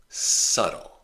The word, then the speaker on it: subtle: There's other examples where the B by itself is silent, but it's not common. It's rare. Debt. There's no B sound. The B is silent. Debt. Doubt. Subtle.